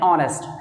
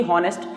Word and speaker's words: honest: इधर इसी में बात करें, जैसे हमने कहा कि ही इज़ एन ऑनेस्ट मैन, जैसा जो लिखा होता है HONEST, तो उसको सही मायने में पढ़ते हैं ऑनेस्ट, ना कि हॉनेस्ट।